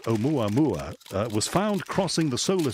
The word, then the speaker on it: Oumuamua: the end of last year, were speculating that Oumuamua, I can now pronounce it. This is a great cause for celebration, because at the back end of last year I couldn't. Oumuamua, I'll say it again.